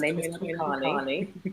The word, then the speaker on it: Toyin Adekale: Well, as you always pronounce perfectly, my name is Toyin Adekale.